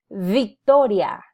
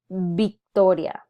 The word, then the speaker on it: Victoria: through those sounds there I wanted to call your attention to the V because in Spanish this sound is actually produced as but our instinct because of our influence from English is to want to pronounce a word like Victoria as Victoria in Spanish but in reality we don't have a the sound in Spanish so it defaults into Victoria and finally the Z